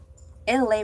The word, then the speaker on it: Elay: You're locked in to Freestyle Thursdays with your girl, LA, pronounced like LA, like the city.